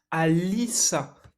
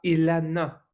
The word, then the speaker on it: Alyssa: prononce pas comme ça ça se prononce Alice et pas Elana alors je me permets